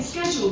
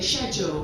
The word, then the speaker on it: schedule: Oh, see, this is a funny one already because I always say schedule, but Dad goes, no, Emilia, schedule. No, schedule. So I say it wrong, but my dad corrects me every time.